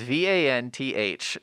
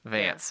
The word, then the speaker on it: Vanth: And that is not me mispronouncing the name Vance. His name is V-A-N-T-H Dreadstar, which is so distracting to me, but yeah.